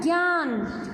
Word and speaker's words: ज्ञ: हमने इसको ज्ञ से ज्ञानी बोलने लग गए। ये ज्ञ से ज्ञानी नहीं होता है, ये होता है ज्ञ।